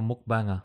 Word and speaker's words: mukbang: I reckon CJ would be a hell of a mukbanger. Can we do the pronunciation?